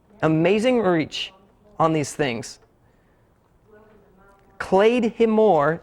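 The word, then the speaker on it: claidheamh mòr: Clay himore is how it was actually pronounced in Gaelic.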